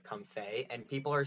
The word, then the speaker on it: Comfey: Oh, it's spelled comfy, but I think people pronounce it comfey, and people are saying it's a lot like shoot, that one character from League, Yumi.